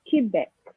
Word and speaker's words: Québec: But you see here we have Quebec, and you have to pronounce the C.